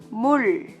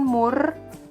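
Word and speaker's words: 물: konsonan mati er ya Ini cara bacanya Hai Mul bukan Mur tapi muncul itu artinya air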